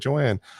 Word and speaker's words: Joan: Joan, Joanne. I'm gonna call her Joan because it's spelled like Joan. And Yeah, she made that note, spelled like yeah. Joan, pronounced like Joanne.